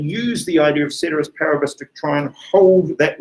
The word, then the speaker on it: ceteris paribus: we introduced whenever it was the other day ceteris paribus yeah that's how i pronounce it you can pronounce it however you